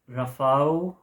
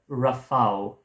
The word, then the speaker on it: Rafał: The Ride, however, by Rafał. I think I heard something about the L with the crossed over line, supposed to be pronounced as a W.